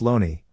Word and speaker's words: Looney: the shakespeare corpus by j thomas looney pronounced loney in 1920 here is